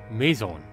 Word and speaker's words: maison: Anyway, Maison.